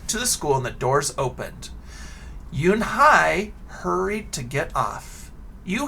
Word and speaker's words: Unhei: no no unhai corrected it's spelled u-n-h-e-i it's pronounced yoon hai oh so i was mispronouncing her name also